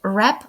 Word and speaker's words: wrap: подарунок WAP a gift Зверніть увагу що у слові Rap ми не читаємо літеру w це ж саме стосується